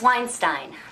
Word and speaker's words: Weinstein: That's Weinstein. Rhymes with fine.